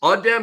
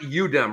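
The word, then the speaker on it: Adem: our job okay uh so you it's ADM it's not udm right it's ADM uh Bona ADM Bona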